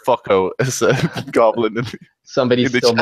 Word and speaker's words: Foucault: It's it's pronounced "fucko" as a goblin in Somebody's the still chat.